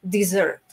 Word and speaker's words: dessert: es miren que es la diferencia mayor está entre donde en cuanto a las dos sílabas estamos poniendo nuestro acento no en este caso cuando hablamos de postres lo estamos poniendo en la primera sílaba o deezer perdón a la última se la y cuando estamos hablando de desierto cuando es con una sola ese entonces de sharp que ya estamos poniendo nuestro énfasis en la primera fila